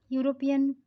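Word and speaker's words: European: यूरोपियन, यहाँ पे ई है लेकिन इसका उच्चारण भी वाई जैसा है, तो यहाँ पे जो उच्चारण वाई, कॉन्सोनेंट वाई टाइप सा उच्चारण है, इसीलिए हम लोग इसके आगे ये लगाएंगे ए।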